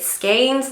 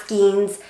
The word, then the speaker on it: skein: to pronounce it it skeins like Lanes not skeins and I will try